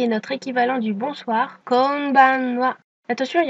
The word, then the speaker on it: konbanwa: Et maintenant le dernier qui est notre équivalent du bonsoir, konbanwa. Attention, il y a encore des N. Au ralenti, ça donne donc konbanwa.